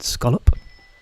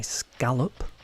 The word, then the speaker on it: scallop: In case you're wondering, that is the correct way of pronouncing the word scallop. I know that some Americans will maybe want to say scallop, but this is a British stream, so yeah.